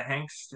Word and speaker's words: Hanks: they have a very special guest uh Jenna Hanks uh who's joining us how you going Jenna good thanks Damo and good pronunciation of the surname there all right guys